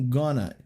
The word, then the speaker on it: gonna: A gente sabe que o going to, que o going to ele normalmente é pronunciado com gana.